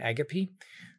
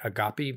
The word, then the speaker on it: agape: In part, it's a response to Anders Nygren about Eros and Agape. That's how Lewis pronounced it, by the way. We usually hear in this country say agape, but agape is how he pronounced it.